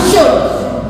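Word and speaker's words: should: Like S एच ओ यू L, that is pronounce शुड, शुड, could, would, okay.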